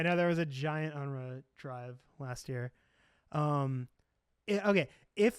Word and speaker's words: UNRWA: Not Enron. Oh. UNRWA.